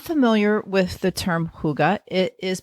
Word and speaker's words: hygge: So, if you're not familiar with the term huga, it is pronounced hugga, and it is a beautiful Danish concept centered on coziness, comfort, and connection.